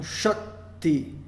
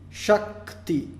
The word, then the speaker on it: Shakti: E a sílaba Sha, então, é longa porque, tendo esse encontro consonantal, ela fica um pouco estendida, não pelo A ser estendido, mas o tempo de duração dela é estendido.